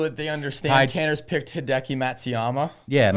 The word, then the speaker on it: Matsuyama: So just for the people so that they understand, Tanner's picked Hideki Matsuyama. Yeah, okay, Matsuyumi. That's what I said. Interesting pronunciation, but I like the pick.